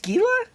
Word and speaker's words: Scala: you're talking about aspartame it's pronounced skila no way is it I've been saying Scala for years how to store large